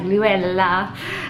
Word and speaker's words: Luella: It's kind of got like a foreign tone to it like Lou-ell-lah. And I just thought Luella Norris would have been a beautiful little girl's name.